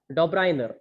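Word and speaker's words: Döbereiner: फिर उसके बाद इन 1829 के अंदर डॉब्राइनर, ध्यान से सुन लीजिए, प्रोनाउंसिएशन सही से सीख लीजिएगा, डॉब्राइनर, इनका नाम क्या है, डॉब्राइनियर, ठीक है।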